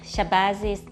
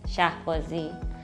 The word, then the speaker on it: Shahbazi: My name is and my last name is Shahbazi. That's the way it's pronounced here. However, the actual pronunciation is Shahbazi.